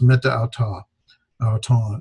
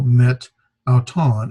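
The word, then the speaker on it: μετ’ αὐτόν: in a vowel, well, the Greeks don't want to pronounce meta auton, so they would drop the vowel met auton, and they would almost say it almost as if one word, met auton.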